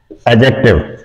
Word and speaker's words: adjective: Number 4 एडजेक्टिव। डी के बाद अमूमन अगर जे आ जाए तो डी साइलेंट हो जाता है।